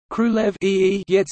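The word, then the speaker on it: Królewiec: Krulev Yets is a rough approximation.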